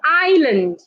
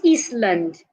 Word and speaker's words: island: say sandwich we don't say Grandma the D is silent it's Grandma sandwich we also have Island not eastand island island cabbo do not say cupboard say